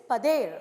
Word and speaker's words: padeiro: These bakers are known as padeiro in Goa even today. Alright, in Portuguese the pronunciation is padeiro, alright.